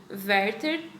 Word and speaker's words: Werther: dos jovens dos jovens verter eu imagino que aberta é porque ele alemão e lá se pronuncia o w como ver então a gente seja